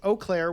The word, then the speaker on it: Eau Claire: Eau Claire? Like just just like the letter O? Okay. So, Eau Claire, Wisconsin.